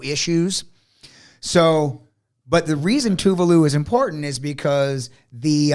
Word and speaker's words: Tuvalu: so uh uh uh Sovereign Nation called uh tuvalu tuvalu is where it is a it is a chain of nine Islands spell that uh Tu u v a l uh